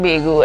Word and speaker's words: Bago: because the reason hence the name Bago Juve, Baego, but it's pronounced Bago obviously.